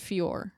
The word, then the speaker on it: Fiorot: I'm pretty sure you pronounce it Fiorot, so hopefully I'm saying that right.